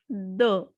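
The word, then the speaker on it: deux: 2 is the, because E and U has the sound a, and last consonant will not be pronounced. So the pronunciation will be the.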